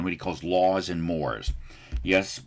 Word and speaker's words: mores: he calls laws and mores. Yes, we in American English pronounce that word like mores, like a moray eel.